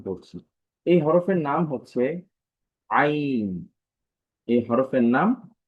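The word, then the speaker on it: عين: আইন প্রথমে হরফটা যখনই শুরু হবে তখনই গলায় একটা চাপ থাকবে। আ আইন আমি আবারও বলছি আইন তো যদি উচ্চারণটা দেখি কন্ঠনালীর মধ্যখান হতে আওয়াজকে চাপ দিয়ে পড়তে হয় আচ্ছা অর্থাৎ আমাদের যেই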